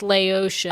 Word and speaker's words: Laotian: it's Laotian. Oh. Yes. Yeah, like Haitian or whatever. It's just like how you say it. I was thinking Laoca.